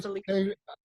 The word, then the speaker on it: Felice: Is it Felice or Felice? Everybody says it that way, so yes, but the Italian pronunciation is Felice.